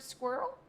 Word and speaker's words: squirrel: You want to know how to say the word squirrel? Squirrel. Like whirl? Like, so squirrel.